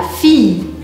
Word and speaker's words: fille: A filha, eu vou falar la fille, como se tivesse um i comprido.